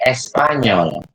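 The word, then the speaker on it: espagnol: Jadi contohnya itu ile Espanyol. Espanyol. Kenapa GN-nya dibaca ini? Karena memang bacanya seperti itu.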